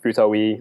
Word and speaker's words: futawe: Pronounced Future. It's funny, a lot of people pronounce it as like Future-wee or like Future-wee.